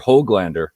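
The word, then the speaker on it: Höglander: Even Hoglander, I heard was the pronunciation in the scrimmage last night.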